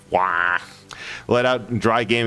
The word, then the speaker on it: Roy: Basically, legendary goalie and franchise player for Montreal Canadiens, Patrick Roy, pronounced Patrick Wah, let out a dry